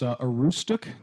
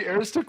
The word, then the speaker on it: Aroostook: They say the county, it's Aroostook County?